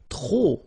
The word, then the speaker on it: trop: If you want to use trop, and trop means too many, okay? Then you will have to put de, and the noun without the article. Okay, remember, too many, trop, don't pronounce the final P.